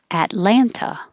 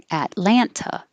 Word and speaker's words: Atlanta: as in santa monica 25 you can say with the tea or without the tea atlanta atlanta or atlanta atlanta 26 miami miami seattle